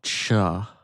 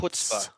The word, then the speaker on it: Chutzpah: yours, it's not cha. It's Chutzpah.